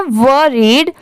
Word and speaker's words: worried: ये है वरीड, WORRIED, इसको पढ़ते हैं वरीड। अब जैसे यहाँ पर WO है तो बहुत लोग इसको वो पढ़ेंगे, पर नहीं, यहाँ पर इसकी प्रोनाउंसिएशन हो जाती है पूरे की वरीड, वो नहीं वो होगी, ठीक है।